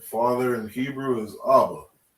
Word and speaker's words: Abba: Father in Hebrew is Abba. Right. Abba, you have an ah and a ba. That's the first word in Hebrew.